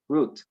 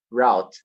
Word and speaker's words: route: did he pronounce it route you see so both ways are used nowadays now if you do a statistical person then usually root is more frequent than route but who